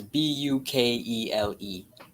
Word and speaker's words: Bukele: Yeah, I don't know how to pronounce it exactly. It's Bukele.